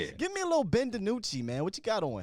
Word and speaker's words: DiNucci: I called him Ben Houdini at first because I didn't know how to say his last name. So Ben DiNucci.